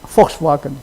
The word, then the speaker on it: Volkswagen: German V, okay, pronounced like F. W pronounced like V. Okay, so like Volkswagen is Volkswagen.